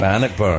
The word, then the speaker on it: Bannockburn: Bannockburn. Am I saying it right? Bannockburn.